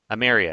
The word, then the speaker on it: Emeria: How do you pronounce it? Emeria? Emeria. Emeria, excuse me.